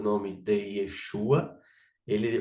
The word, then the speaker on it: Yeshua: Que aí abreviou para Yeshua, né? Que aí você corta aqui O O ro, né? Você corta o ro Tá certo? E aí fica o Yeshua Ok?